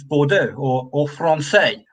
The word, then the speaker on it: Bordeaux: reading it is to ignore the last letter because they never pronounced the last letter most of the time Bordeaux Mero yeah yeah Bordeaux ends in an next you don't say Bordeaux do you it's bordo